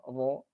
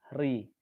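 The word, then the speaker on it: ر: Maka ketika membaca huruf ro yang tafkhim, ro itu agak nekuk lidahnya, nekuk ke bawah. Ro. Yang berdoma, ru. Sedangkan yang berkasroh atau yang tarqiq tadi dibacanya tipis, ri. Dia lidahnya lurus, tekanan udara di situ.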